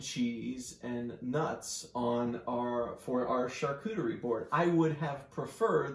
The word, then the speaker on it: charcuterie: real name because I don't know how to pronounce it. Charcuterie.